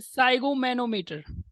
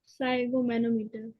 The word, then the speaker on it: sphygmomanometer: एक इंस्ट्रूमेंट को यूज करते हैं, इसका नाम Pi- होता है साइगोमैनोमीटर। Sphygmomanometer. स्पेलिंग में आगे एस भी होता है। ये सब साइलेंट होता है, पीएच साइलेंट होता है।